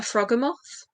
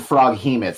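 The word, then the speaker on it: Froghemoth: involved a Froggermoth because Froggermoths are Oh, cool. okay. I always pronounced it frog hemoth, so it took me a second there to get with you on that Yeah, one.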